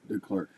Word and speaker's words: DeClercq: Andrew, how do you say DECLERCQ? DeClerk? DeClerk.